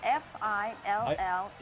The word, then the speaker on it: fillet: The word that we use in describing fish is spelled F-I-L-L-E-T, when I seen it today, I and it couldn't should be pass it.